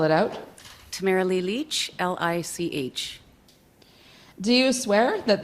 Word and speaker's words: Lich: commissioner the next witness is uh Tamara leash Leach Ms Leach will you swear on a